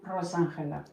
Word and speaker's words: Rosángela: Por cierto, eh, rectificando una cosa, yo me llamo Rosángela. Vale, en castelliano se dice así, Rosáela y en portugués Rosela.